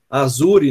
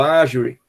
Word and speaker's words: Azure: esse site aqui chamado azure né como a gente pronuncia em português ou agir que é em inglês ele é um equivalente